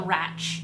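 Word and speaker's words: Radch: a Sci-Fi space Empire called the ratch it's spelled r-a-d-c-h and the protagonist Breck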